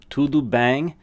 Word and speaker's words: tudo bem: tu du bang okay tu say that with me tu do like a straight up doo sound and then bang as it literally as if you were saying like bang like bang like a all right b-a-n-g there's that n-g sound to bang okay so to do